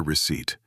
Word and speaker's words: receipt: That is a receipt. R E C E I P T. Another strange word with silent letters. Yes, the P is silent.